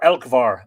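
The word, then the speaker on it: Elcmar: combined otherwise known as elkmer or elkvar apparently is how you pronounce it because of the lenition on the m this name elkvar translates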